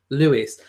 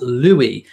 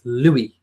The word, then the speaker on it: Louis: the French version as Louis think L double O and then w ee Lou we if you say Lou and we and put it together you will get the right pronunciation it's Louis so yes it's not